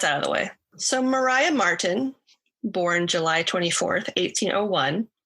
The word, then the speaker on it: Maria: also she get murdered by cherries melatonin is a very serious drug no her name is spelled maria but they pronounce it mariah so i had to